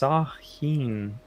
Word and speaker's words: Samhain: kendall says spooky facts samhain is pronounced sahin i don't know how